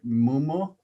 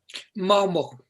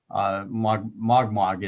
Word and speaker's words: Mogmog: This is the island of Mogmog, although John, in your language, what's the proper pronunciation? Is it Mumu? Momo. Momo. Momo. Okay. Yeah. And so in John's language, it's Momo. This was the Fleet Recreation